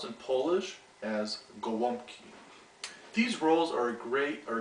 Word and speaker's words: Gołąbki: you how to make stuffed cabbage rolls or pronounced in Polish as Goki these roles are great are great to have